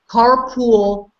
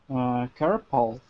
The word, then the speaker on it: carpal: This is how people pronounce it wrongly. They pronounce it carpool tunnel syndrome. What is the correct way? What do you think, Bonnie? Carpal.